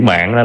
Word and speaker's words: mạn: Mạng. Mạng, đó, ai mà sắc tướng ngôn từ là sẽ thấy liền. Đọc đúng là phải là sao?